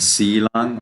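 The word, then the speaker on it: sīlaṃ: And silang also is with sa. Okay? Silang. Because it is a Sri Lankan pronunciation.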